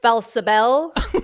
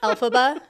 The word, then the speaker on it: Elphaba: He's like, oh, hey, Felsabel, instead of Elphaba. That's her name, right? Elphaba? It is.